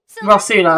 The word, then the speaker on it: Rosula: task for the SP rosula rosula that's how you pronounce it time to go H